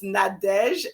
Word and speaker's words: Nadege: nadeshlerman i'm very boring i call it spell it for us so everybody knows sure it's nadesh and as in nancy as in apple d